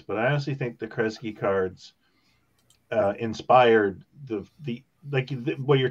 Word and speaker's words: Kresge: Kresge's how you pronounce it, right?